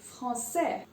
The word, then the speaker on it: français: And the people or the language is français.